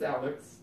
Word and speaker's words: Alex Trebek: dad hates alex rebeck is it alex or alec that doesn't matter anymore that's alex is it yeah it's alex trebek that's his middle name by